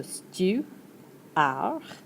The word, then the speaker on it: steward: has to do with things that fly Le steward. You don't get to pronounce the D, so stew - ar(d).